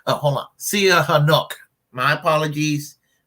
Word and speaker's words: Sihanouk: anyway when they embraced Prince, how do we pronounce his name? Prince Sihanouk. Hold on. Sihanouk.